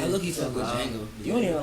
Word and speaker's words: Django: Y'all better stop saying Inception Django. That's still silent. I love that movie. I said Django just now. I love that. He did. The D is silent. Django? It is silent.